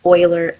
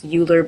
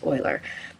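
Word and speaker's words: Euler: believe you pronounce it Oiler angles it looks like it's uler but it's I think the correct pronunciation is Oiler so querian what it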